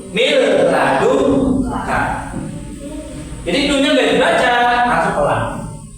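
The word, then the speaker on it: مِن لَّدُنكَ: Contohnya ini bacanya min ladun ka salah. Yang betul miladun ka.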